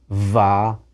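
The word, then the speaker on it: וָ: and night is Yom Va Laila. Here's another example, wood and stone, Eitz Va Even. It's va, not v, when it's followed immediately by a word that's accented on the first syllable.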